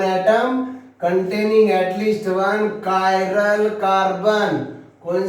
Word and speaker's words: chiral: CHRL कोई लेंगे, कोई लोग इसे चिराल कार्बन बोलते हैं, किराल कार्बन, चिराल कार्बन। इसका प्रोनाउंसिएशन ऐसा नहीं, CHI chiral carbon.